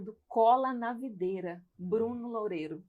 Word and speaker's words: Loureiro: é idealizador, fundador do Cola na Videira, Bruno Loureiro. Loureiro. Pronunciei certo?